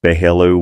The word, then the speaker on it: Belleau: Sergeant Thomas O'Brien from Massachusetts, 26 years old, missing in action at Belleau Wood, pronounced Behello Wood, June 6th, 1918.